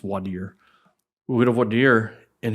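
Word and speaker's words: voir dire: When we go to Vardier, where you pick the jury, some place called Vire, it's actually pronounced Vadier.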